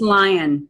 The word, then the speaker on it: Lyon: Is it Lyon or Lyon? It's Lyon. Lyon. So it's not the French pronunciation, which I would guess.